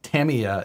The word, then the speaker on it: Tamiya: Tamiya is actually the correct way. We were told by Tamiya when we had them on the live show, Matt and I.